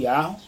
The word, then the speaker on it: Yahuh: substituiu o nome de Deus o tetragrama que pronuncia-se yarro yarro o Deus de vossos pais o Deus